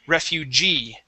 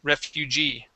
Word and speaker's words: refugee: off the word is refugee okay stress at the end refugee refugee very good okay